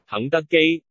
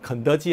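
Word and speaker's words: 肯德基: 肯德基 켄터키, 켄터키 비슷하죠, 그죠? 여자 발음입니다.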